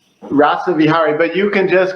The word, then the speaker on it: Rasavihari: for having me now I believe your name is pronounced Dr rava V is that it rasavi in uh so this in rasa vihari rasa vihari but you can just